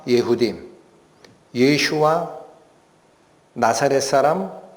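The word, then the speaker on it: ישוע: 예슈아라고 읽힙니다.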